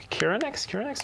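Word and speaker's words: Chironex: Can you go down to Yennefer that spawns the unicorn or the Kiranex?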